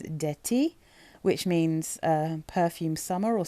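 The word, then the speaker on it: Parfum d'Été: So I looked up how to pronounce this, and I'm pretty sure it says D'Ete, which means perfume summer or summer perfume.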